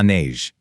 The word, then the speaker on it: neige: In French, it's de la neige. The N there sounds kind of like the word beige. Pretty, isn't it? De la neige.